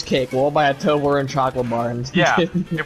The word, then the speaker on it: Toblerone: Toblerone. It's like Tobler and then one. Toblerone.